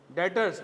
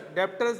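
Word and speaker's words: debtors: डेटर्स। डेप्टर्स नहीं है ये। बी साइलेंट है।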